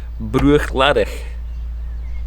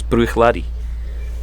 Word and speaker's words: Bruichladdich: Also, one of the other ones that I say incorrectly is Bruichladdich. You don't pronounce the at the end, apparently. It's Bruichladi.